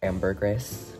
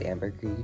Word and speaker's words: ambergris: was i pronounced it ambergris i think that's like a very like americanized like white way of saying this but like it originates from france and it's like properly pronounced as ambergris but this note ambergris